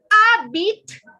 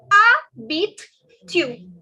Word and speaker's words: habites: Où habites-tu? Okay, I'll repeat very slowly. Où habites-tu? Où habite. Okay, the H is silent, the S is silent, the silent language, French it is.